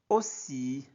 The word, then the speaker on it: aussi: même quartier quartier vi aussi a u se prononce o aussi pierre un voisin